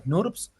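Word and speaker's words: snRNPs: ¿Por qué se les dice snurps? Porque si uno abrevia RNPPN, o sea, si uno hace las siglas de rigonucleoproteínas pequeños nuucleares en inglés, se escribe parecido a esto. Sí, se escribe como snurps.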